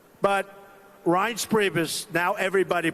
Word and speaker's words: Reince: And I said before, nobody knew how to pronounce his name. It's a crazy name. They called him Rance. Steve Wynn just called him. He's still not pronouncing it right, Steve. But Reince Priebus, now everybody pronounces his name right.